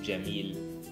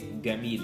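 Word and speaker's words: جميل: Like, for instance, normal Arabic has the letter Jim, so they pronounce it Jim, Jamil. We say Gamil instead of Jamil, so it's just an easier way to pronounce things.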